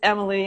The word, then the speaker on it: Amylee: start off by saying it's emily i'm not saying your name wrong so in case anybody